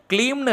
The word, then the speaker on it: க்ளீம்: அதே போல இந்த மந்திரத்துல க்ளீம்னு இருக்கக்கூடிய அந்த பீஜாட்சர மந்திரத்தை நீங்க ரொம்ப ஷார்ட்டா சொல்லக்கூடாதுங்க. அதாவது க்ளீம்னு நீங்க சொல்லக்கூடாதுங்க. கொஞ்சம் இழுத்து நீங்க ப்ரொனவுன்ஸ் பண்ணணும். அப்பதாங்க முழுமையான பலன்கள் நமக்கு கிடைக்கும். க்ளீம் க்ளீம் க்ளீம் இப்படி நீங்க சொல்லணும்.